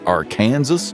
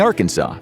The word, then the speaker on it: Arkansas: unique accent gave us the unusual pronunciation of Arkansas. In the 1800s, one senator actually tried to make it sound more English, Arkansas, but by then everyone was already saying Arkansas, so the state passed a resolution making that the official pronunciation.